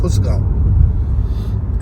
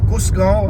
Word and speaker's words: कुसगांव: में आगे आ जाएगा, खुसगांव। एक तो मुझे ना यहाँ मराठी का जो प्रोनाउंसिएशन है ना वो मैं फेल हो जाता हूँ। इट इज़ कुसगांव और खुशगांव, खुश के एच तो नहीं है, कुसगांव।